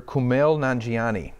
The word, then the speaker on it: Kumail Nanjiani: So it's actor Kumail Nanjiani.